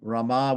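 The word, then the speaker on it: रमा: So it says here Rama Rama meaning Laxmi Ram Rama with a long a right is eternally is eternally untouched by sorrow while others all others are touched by sorrow.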